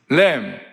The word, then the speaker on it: lamb: LAM, lamb, 어린 양, LAMB, B is 묵음, 똑같아요, 발음이.